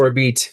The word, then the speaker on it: Orbite: to pronounce it or beat it's a French pronunciation.